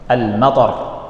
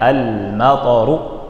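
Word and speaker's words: المطر: Almatar. Thnya pendek. Almatoru hujan.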